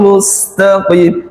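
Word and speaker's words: مستقيم: Ihdinas siratal mustaqim. Mustaqim. Ndak boleh lepas di situ. Harus ditempelin di situ.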